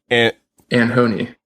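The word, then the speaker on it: ANOHNI: So it's like an hon and yes I I forgot that she changed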